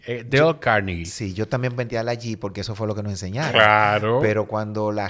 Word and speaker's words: Carnegie: podcast, que no conozca el nombre de Dale Carnegie.